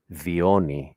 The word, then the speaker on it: Dione: Dione is how it's pronounced.